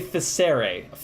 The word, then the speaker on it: Ficere: I'm gonna say Ficere, F-I-C-E-R-E. It looks like fierce, but it's not.